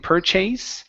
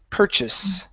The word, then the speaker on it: purchase: So, the end word here instead of using a long a saying purchase, the word is purchase. Purchase. Ah, like an i sound.